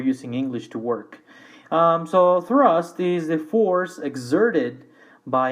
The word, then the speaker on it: thrust: next item which is thrust pronunciation remember the th in English has sound that we do not have in Spanish and that is just putting your tongue between your teeth when you do this